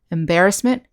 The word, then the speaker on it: embarrassment: and all the words that's the second syllable embarrassment embarrass embarrassing embarrassed and